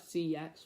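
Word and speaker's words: CeX: one pound fifty at c x which i know how you actually pronounce the shop i'm not saying it it's cx not the other word all right all right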